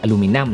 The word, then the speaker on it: อลูมิเนียม: คือ ตัว เครื่อง เนี่ย เป็น อลูมิเนียม นะ หรือ ว่า ถ้า เกิด ออก เสียง แบบ ฝรั่ง หน่อย อาจ จะ อลูมิเนม นะ คือ อลูมิเนียม อันเนี้ย